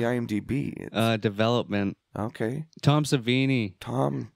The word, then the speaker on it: Savini: uh development okay Tom savini Tom I had Houdini in my head and I knew that wasn't right and I was like I know it rhymes with that he is a magician